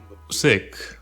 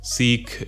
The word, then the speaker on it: Sikh: understand this video so sick right is actually the correct way to pronounce seek right but seek is like it makes